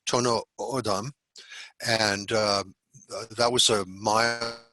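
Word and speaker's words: Tohono O'odham: They're now known as I believe it's pronounced Tono Odam, and that was a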